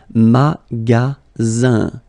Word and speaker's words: magasin: And then the ending here is IN, so it's nasal, it goes in your nose, and it's un, magasin, okay?